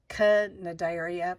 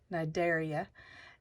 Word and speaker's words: Cnidaria: It looks like Cnidaria, but it's C is silent, so it's Cnidaria.